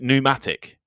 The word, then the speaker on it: pneumatic: English is also full of puzzling spellings and silent letters. Like pneumatic and pterodactyl, they both start with the letter P.